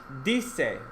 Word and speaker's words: dice: So it stops short. So, dice. Everyone say dice.